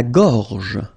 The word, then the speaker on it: gorge: La gorge. La gorge. Okay, remember when you've got this combination G and O, you get the sound go, go. Okay, so gorge, and then G and E gives J.